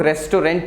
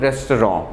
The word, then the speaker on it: restaurant: To run a restaurant, we need, अब इसका pronunciation हम लोग restaurant भी करते हैं friends, but please mind it, it's called restaurant.